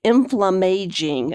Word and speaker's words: inflammaging: And finally, I want to leave you with a a new word inflam inflam inflammaging is how you pronounce it.